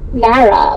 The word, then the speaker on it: Marae: Marae? Am I reading that correctly? It's pronounced Mara with no H. Oh, Mara, kind of like Sarah.